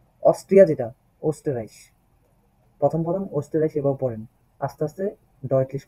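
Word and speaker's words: Österreich: ওকে রুস্টারাইসাইজ রুস্টারাইস Austria যেটা ওস্টারাইস প্রথম পড়েন ওস্টারাইস এভাবে পড়েন আস্তে আস্তে ডয়ালিস্ট করবেন এয়ার বন্ট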